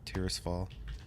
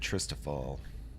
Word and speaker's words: Tirisfall: Tirisfall. Tirisfall. I kind of like that. I always said Tristafall, I think, when I used to play. But looking at the spelling, that's not.